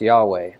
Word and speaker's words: Yahweh: We don't really know how it's pronounced because the Jews never pronounced it out of respect for God. But some people guess that it was pronounced Yahweh, which is probably accurate.